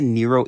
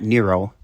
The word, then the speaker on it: Niro: or e-nero in europe no not nero but nero as in near-zero apparently it's really for near-zero defects and not near zero emissions kind of weird but honest and pronounced de niro come on you haven't